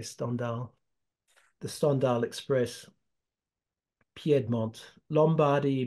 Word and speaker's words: Stendhal: The Stendhal, pronounced in the French way, Stendhal.